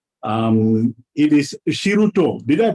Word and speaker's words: Shiruto: well with an interesting name um it is shiruto did i pronounce that correctly yeah yeah you have pronouns